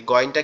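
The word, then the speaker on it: غين: এই গইনকে কিভাবে পড়বো আমরা? গইনটা আমাদের এই যে গলার শেষ অংশ, অর্থাৎ মাথার সাথে যে অংশটা লেগে আছে, এইখান থেকে মনে হবে আওয়াজটা গালের ভিতর থেকে আসতেছে। গইন, গইন, গইন, গইন, গইন, এরকম ভাবে আসবে আওয়াজটা।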